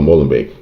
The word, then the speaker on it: Molenbeek: That guy in Molenbeek, or Molenbeek is a Dutch pronunciation, that guy that won the lottery, he now becomes the target of rage.